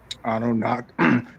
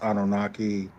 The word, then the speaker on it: Anunnaki: Anunnak. That's pronounced Anunnaki.